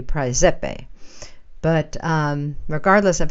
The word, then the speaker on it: Praesepe: There is a star cluster within the constellation of Cancer, the crab, which is called Precipi, or in proper Latin, I understand it would be Praesepe.